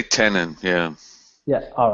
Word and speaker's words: Tenon: behind Tenon is great first question what how do you say is it tenin or how do you say it I say tenin yeah yeah all right